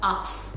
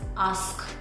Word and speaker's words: ask: Okay, it's not ox, it's ask. Ask. ask.